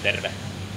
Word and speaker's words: terve: Terve. Terve? Terve. Terve? Pretty close. Okay. The rolling R is pretty important. Oh, terve. Terve. Terve. Like derve, but terve? Yeah, you spell it like T-E-R-V-E.